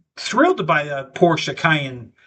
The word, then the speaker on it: Cayenne: So, so I think they would be thrilled to buy a Porsche Cayenne. That's how you say it, Cayenne.